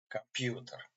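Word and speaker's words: компьютер: The accent on this syllable, and that's why this letter pronounced like A. Computer.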